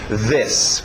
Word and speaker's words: this: Vocês olham para a letra I, querem dizer um I, mas esse I aberto de E, o som curto, E. This, ok?